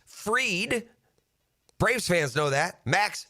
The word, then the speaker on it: Fried: It's pronounced Fried.